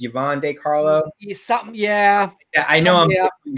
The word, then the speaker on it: Yvonne De Carlo: It's Yvonne De Carlo.